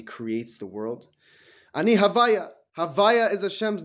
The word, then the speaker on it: Havaya: Havaya is Hashem's name. The Yud K Vav K. We pronounce it Havaya is like the way we say it when we don't want to pronounce it the proper way.